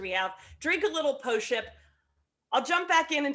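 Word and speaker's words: Pošip: do with it so postship is the grape it's spelled p-o-s-i-p but the s with the the little accent over it is a sh so it's post-ship um it is made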